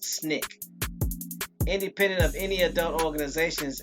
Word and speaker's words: SNCC: of the Student Nonviolent Coordinating Committee pronounced snick independent of any adult